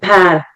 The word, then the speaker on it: Pär: It's A with the 2 dots. Pär. Okay. Yes. Like the fruit in a way.